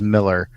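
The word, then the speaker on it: Millar: ways um me too appar apparently he has pronounced as Miller in uh interviews okay so I guess it's Miller but I've been pronouncing it marar for a long time too so well just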